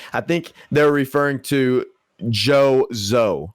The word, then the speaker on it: Zhou: just looked it up and looked up the pronunciation and it is joe it's just joe yeah yeah j j j ow is what